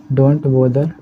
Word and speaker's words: bother: और जो परेशान करने की बात होती है ना, हम इसको बोलते हैं बोदर, है ना, डोंट बोदर मी। ये बोदर है, ब्रदर नहीं है ना।